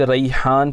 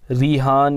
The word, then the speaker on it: रिहान: नाज़रीन, हज़रत का नाम हज़रत मलिक रिहान पाशा रहमतुल्लाहि ताला अलैह हैं। लोकल में लोग रिहान या रेहान भी कहते हैं, लेकिन असल प्रोनाउंसिएशन जो है इसकी है रिहान है, रा या ज़बर रई।